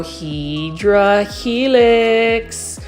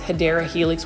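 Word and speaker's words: Hedera helix: of like similar to when I try to grow HRA helix or what I would call for my newer um viewers the correct way to say it is hadera Helix which is in English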